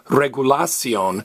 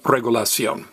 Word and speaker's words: regulación: CIO and in Spanish always have an accent over the last vollis's hey don't stress the next last vowel don't say regulation stress me regulation great let's do our